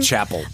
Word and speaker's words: Chappell: Is that how she pronounces her name? Yeah, Chapel.